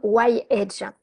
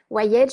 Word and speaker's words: Y-Age: C'est en fait ce qu'on appelle le système Y-Edge. Y-Edge, je ne sais pas si vous voyez, voilà, ça s'écrit Y-Age. Y-Edge, ça veut dire pourquoi vieillir.